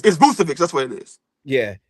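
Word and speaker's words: Vučević: This Boston Celtics acquired Nikola Vucevic, and I can't never pronounce his name. Obviously, the Celtics needed some help. No, it's Vucevic.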